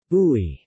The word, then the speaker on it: bouy: Popular fresh juices are made from bissap, ginger, bouy, pronounced bouy, which is the fruit of the baobab tree,